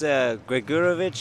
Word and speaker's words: Gregurovic: Why don't you give us the correct pronunciation of their last names there, Oliver? I think it's Gregurovic and then Ostojic.